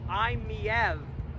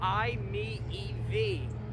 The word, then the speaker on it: i-MiEV: so funny enough while i have been pronouncing the name of this car the imei you're actually supposed to pronounce it the i me ev because you're supposed to look at the eevee yeah i know corny